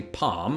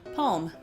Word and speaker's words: palm: between you and I I say palm and you say palm So you actually put the L in there.